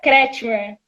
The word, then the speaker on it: Kretschmer: Como pronuncia seu nome? Pronuncia Kretschmer. Kretschmer.